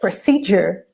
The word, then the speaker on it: procedure: Yeah, or schedule, but not schedule, or procedure, or graduate, or individual.